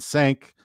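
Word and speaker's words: cinq: And sank is five, which is spelled c i n q.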